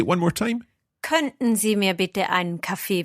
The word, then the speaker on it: könnten: Könnten Sie mir bitte einen Kaffee bringen? Now, for me, it's written, I know that it's written K-O with an umlaut, double N-T-E-N. Is that T not really pronounced?